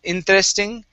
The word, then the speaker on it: interesting: Okay, now, you don't want to pronounce a Spanish T, saying interesting. It's interest. So pronounce a CH sound, actually. So it's interesting.